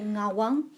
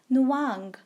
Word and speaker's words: Nawang: kids name something like nawang which is like it's actually like nawang but a lot of people cannot pronounce so in like a lot of british people especially pronouns is like nuwang so like my sister